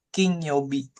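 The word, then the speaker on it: 金曜日: King Yobi sebutannya dibacanya bisa Ke, bisa gane, bisa King gitu ya.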